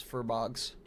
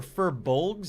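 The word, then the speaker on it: Furbolg: I thought they were furbuls. That's how it's spelled. But then I heard an interview with someone from Blizzard and he was saying furb bogs. Like where's the L?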